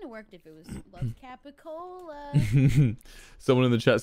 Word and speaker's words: capicola: a real thing it's a mispronunciation of capicola gabagool yeah capricorn gabba ghoul